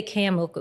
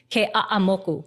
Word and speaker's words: Kamoku: But it's like every syllable has to be pronounced even like you can't say kamoku. It's kamoku.